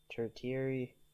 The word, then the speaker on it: tertiary: I can't pronounce this is it pronounced turkey I don't even know um I'm actually going to try to look up how it's pronounced I want to pronounce the word that bad tertiary let's let's uh hear the pronunciation tertiary tertiary so tertiary tertiary so it's pronounced like tertiary tertiary colors are created